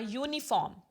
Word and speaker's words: uniform: So for example, we can see here, wearing a uniform, u, because u sound is there. Y means if we start, it is y like. Okay, means obviously we will write with u, but it is sounding like y.